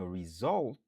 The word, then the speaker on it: result: 2 syllabes, nous accentuer sous deuxième nan. Result. Par exemple, the result was good.